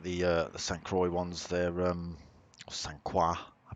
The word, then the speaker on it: St. Croix: But it's St. Croix B, not whatever you said C. St. Croix. Yeah, I do like the St. Croix ones.